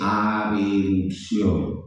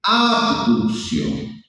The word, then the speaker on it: abducción: Recuerden ustedes que no se dice abucción, no se dice abucción, se dice abducción. sino que como vocalmente la palabra abducción suena a adulción, entonces muchos anatomistas moscas dijeron, "Ah, entonces vamos a decirle abeducción." No, pero no se dice ab. Así no funciona el español, así no funciona el castellano. Es abducción. Abducción.